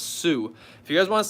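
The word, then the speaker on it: Tsū: link in my description it's called tsu it's pronounced sue if you guys want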